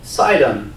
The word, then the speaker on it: Sidon: very angry with the people of tyre and sidon that's seen that right I said it right